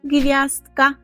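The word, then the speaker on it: gwiazdka: - це зірочка і зірочка польською - це гв'яздка гвяздка гвяздка Наприклад якщо є якесь завдання з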